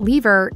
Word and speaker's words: Lever: The word lever in Fat Lever is pronounced lever though.